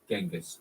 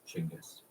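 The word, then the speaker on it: Chinggis: in English this soon led to an extremely common mispronunciation genis Khan the mispronunciation is so widespread today that genas Khan has arguably become the standard way that the name is pronounced in English but for the sake of correctness in this episode I will pronounce the name chingus as it is said in Mongolia today beyond the pronunciation of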